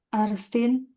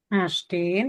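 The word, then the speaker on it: Ärztin: Yang D, yang pertama Arstin, Astin bacanya.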